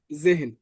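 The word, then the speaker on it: sehen: ঠিক আছে হা পড়ছিলাম বাট এখন এটা এইচ এর মতই উচ্চারণ করেন ইংরেজি এইচ এর মত করেই উচ্চারণ করেন জেহেন একথায় এন ক্লিয়ার জেহেন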